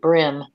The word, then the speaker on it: bream: pronounce it brim even though there is a brim and a bream.